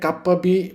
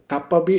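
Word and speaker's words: CAP: ওকে আমরা আজকে যে চ্যাপ্টারটা পড়বো এক্ষেত্রে আরেকটা জিনিস হচ্ছে গুরুত্বপূর্ণ আপনাদেরকে হচ্ছে দেখাই যে নরমভাবে কাপ্পাবি পাতেটা কি আসলে কাপ্পাবি এটা হচ্ছে একটা কোর্স কমে যেটাকে সংক্ষেপে বলা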